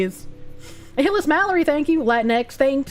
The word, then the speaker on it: Latinx: Latinx, thanks. It's pronounced Latinx. I don't want to call anyone a latinx or Latin X, but I got to read their gobbledegook language.